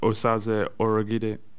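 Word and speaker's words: Osaze Urhoghide: Just speaking of languages, how is your name meant to be pronounced? That's an enigma to many people. Yeah, so it's Osaze Orogide.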